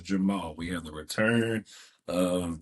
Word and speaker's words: Jermall: I had to get I had to say it right because I almost said Jamal. It is not Jamal. It is Jamal.